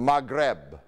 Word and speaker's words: Maghreb: way you say west in arabic is the maghreb we spell it in roman letters m a g h